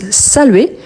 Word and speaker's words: saluer: Tout d'abord pensez qui quand on prononce salué, on ne prononce pas le R. C'était comme s'il avait à la place un accent aigu. OK ? Saluit.